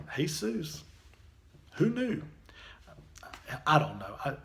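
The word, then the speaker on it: Jesús: Seuss what are you talking about by the way it turns out in some languages what we see spell j esus they actually pronounced hay-soos who knew I don't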